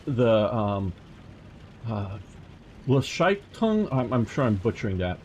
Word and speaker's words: Gleichschaltung: So, it's the Gleichschaltung. I'm sure I'm butchering that. Making everything the same. What? How do you say that? Gleichschaltung. Gleichschaltung.